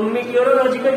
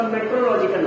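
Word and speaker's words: meteorological: तो प्रोनाउंसिएशन हम over the years इसका मेट्रोलॉजिकल है, बट you should remember that मीटियोरोलॉजिकल pronounce आप चाहे जो करिए, बट मीटियोरोलॉजिकल में ये बोलना इसलिए फायदेमंद है क्योंकि otherwise you will be making spelling mistake. मेट्रोलॉजिकल लिखने में आप सिंपली METRO लिख देंगे, which is a wrong spelling.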